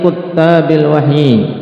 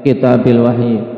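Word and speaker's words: كتّاب الوحي: Wa min jumlati kuttabil wahyi. Antum harokat ini jangan sampai nanti bacanya kitabil wahyi. Kuttab jamak dari katib.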